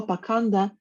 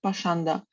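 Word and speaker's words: पाषण्ड: Употребленное в этом стихе слово «паканда» иногда произносят как «пашанда».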